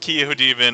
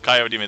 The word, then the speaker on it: Kyo Demon: Which, by the way, I was hanging out a little bit with Kyo Demon, and I found out that I was pronouncing it incorrectly. So instead of Kyo Demon, it's Kyo Demon.